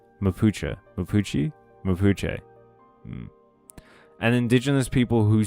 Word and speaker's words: Mapuche: The Mapuche, an indigenous people... Did I pronounce that correctly? Mapuche. Mapuche?